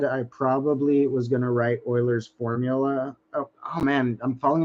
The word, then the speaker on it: Euler: l e r although it's pronounced a little weird for the culture you may be used to but Euler was uh